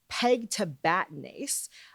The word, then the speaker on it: pegtibatinase: So, the pronunciation is Peg to Batnase. It's an enzyme replacement and you say it in five beats and the middle syllable gets the emphasis.